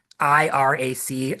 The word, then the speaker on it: IRAC: IRAC, IRAC. It's not like a bad American pronunciation of the country.